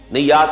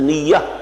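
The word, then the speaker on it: نية: Niyyat is the plural of niyyah. This is commonly used in Urdu also. We pronounce it as niyyat, but this is niyyah in Arabic, and the plural is niyyat.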